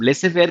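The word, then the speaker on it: laissez-faire: लेसे फेयर क्या होता है? जेड इज साइलेंट है, इंग्लिश के साथ से बताया तो बहुत से लोगों को पता होगा।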